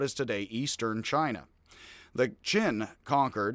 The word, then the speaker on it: Qin: The Qin conquered, it's spelled Q-I-N today. One of the things about the new system that doesn't work so well, Q is CH sound. Odd.